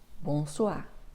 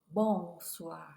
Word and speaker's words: bonsoir: en reparlera plus tard l'accent tonique est presque toujours à la fin des mots en français donc ce n'est pas bonsoir non bonsoir d'accord bonjour alors une